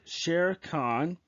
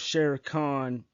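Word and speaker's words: Shere Khan: I know his name sounds like the tiger from Jungle Book, but his la- his Khan This is how his name is This Star Wars Sher Khan is a title is spelled s h e r e space k a a n. That is different from the Jungle Book one.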